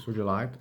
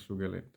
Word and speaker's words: Sugilite: It's in English is Sugilite, but in German and in Czech you have a little bit different pronunciation as Sugilith, and in Italian is Sugilite. So depends which language and where you're from, so it's different pronunciation.